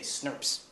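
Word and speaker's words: snRNP: stand up there and say SNRPs. That's how you pronounce that acronym.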